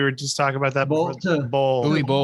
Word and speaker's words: Uwe Boll: Uwe Boll. Uwe Boll. Or Uwe Boll is how he pronounces it.